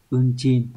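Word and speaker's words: 運賃: Từ này đọc là unchin.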